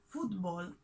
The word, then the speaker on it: fútbol: when we talk about football in argentina we're referring to football soccer we separate this word in two syllables and we mark the accent on the first one foot ball football in spanish all